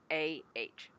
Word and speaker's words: Mishnah: of writings called the Mishnah. And I'm probably mispronouncing that. You But might be. yeah, it's Misnah. You can go look it up.